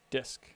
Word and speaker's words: Dysk: One is Dysk, DYSK, and that's like a DF replacement, but it shows it in a much more human readable form. Spell that again. DYSK, Dysk. DYSK, Disk.